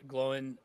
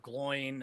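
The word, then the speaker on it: Glóin: And so like we even find out like why uh Glowen is pronounced like that instead of Gloin uh you know because of jokes that his his kids were making.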